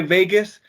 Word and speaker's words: Vegos: it all simple and vegas is spelled v-e-g-o-s yes but it's pronounced like las vegas got it all right